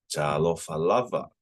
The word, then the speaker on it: Talofa lava: So lava, you can emphasize the last word, or you can emphasize the second to last.